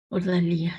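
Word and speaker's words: Ordalía: Sigue Ordalia, o creo que se pronuncia Ordalia. Ordalia, sí lleva acento en la I. Acá está bien la palabra, Ordalia.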